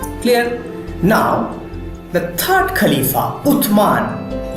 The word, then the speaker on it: Uthman: Now, the third Khalifa, Uthman, you can pronounce it also as Osman. Okay, you can say it Uthman or you can say it Osman. Both are same.